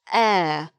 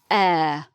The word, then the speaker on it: heir: know it, is pronounced heir. It has an H at the beginning, but the H is not sounded. So the king needs heir.